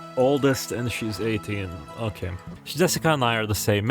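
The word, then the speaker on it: 朱志香: You see, Japanese characters is pronounced Jessica.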